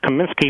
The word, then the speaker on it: Comiskey: Dibble as a white cops announcer near that Comiskey must be a famous russian communist they're very slowly and pompously pronounced Comiskey accurately but then proceeded to spell